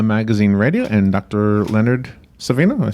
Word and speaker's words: Savino: Leonard Savino.